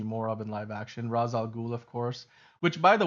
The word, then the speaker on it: Ra's al Ghul: Right now, Rachel Ghoul is. I always say Rachel Ghoul. I Ra's al Ghul.